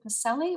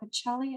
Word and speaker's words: Pacelli: Our next question is from Pacelli or Pacelli, and I apologize, for likely mispronouncing your last name. Both are fine.